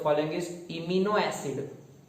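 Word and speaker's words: imino: तो आपको एमसीक्यू मिलेगा which of the following is इमिनो acid, which of the following is इमिनो acid या इमाइनो acid, आप what ever you read it, amino acid, so it's your proline.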